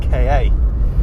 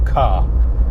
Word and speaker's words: Ka: Today I'm in this first generation Ford KA. I know technically it's supposed to be pronounced Ka or car, but it just sounds a little bit ridiculous, so I shan't say it that way.